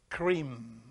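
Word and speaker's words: Krim: Is K-R-I-M, cream.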